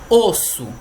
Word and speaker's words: os: Pronuncia o S.